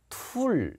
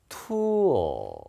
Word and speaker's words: tool: 툴 이게 아니고요. 소리가 이렇게 밑으로 떨어지는 게 아니고요. 투어 이렇게 올라갑니다.